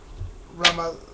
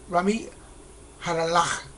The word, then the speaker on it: Ramy Jarallah: Um, a sweet friend of mine, Ramy uh, Ramallah, Ramallah, I always mispronounce his name, so let me make sure I get it right. Um, Ramy Jarallah um, passed away.